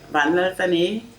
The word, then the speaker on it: Vanlaltlani: Then Vanlaltlani in full can mean one who is saved by Heavenly Lord. And all those three syllables, Van and and, are Mizo language.